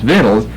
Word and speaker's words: victuals: because I'm sure he didn't know how to pronounce the word. That's obvious. It's victuals.